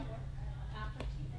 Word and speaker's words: aperitif: I think I pronounced that one. It's like a Aperitif? aperitif.